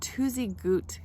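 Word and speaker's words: Tuzigoot: uh right behind me is this thing called twosy Goot that's how you say it they're ancient ruins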